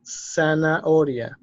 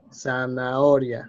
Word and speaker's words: zanahoria: So there is no C here, so the H is as if it is even wasn't there. The H is mute, is not there. So this is pronounced zanahoria, zanahoria, right?